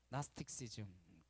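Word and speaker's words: Gnosticism: 그것이 지음 잃어 갑니다 영어로는 나스 텍스 즘 쥐가 묵음 이에요 라스틱 씨즈 미 라고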